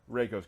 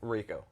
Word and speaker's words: Reiko: you some characters today reiko's coming Raco raids whoa did I say it right I said it wrong okay um so raker you got me got him Reiko uh people on Twitter